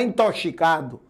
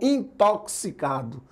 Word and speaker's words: intoxicado: O X aí tem som de KS, galera. Então não é intoxicado. A palavra é tóxico. Então, intoxicado.